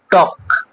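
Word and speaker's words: talk: এফ এর আগে যখন থাকে, যেরকম কাফ, হাফ, এরকম করে কিন্তু কি এলটা সাইলেন্ট থেকে যায়। অনেক সময় কে এর আগে থাকে, মানে অর্থাৎ টক, চক, ফক।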